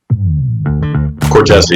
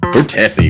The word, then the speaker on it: Cortese: I want to make sure I pronounce this right. Cortese? Cortese, yep. Cortese.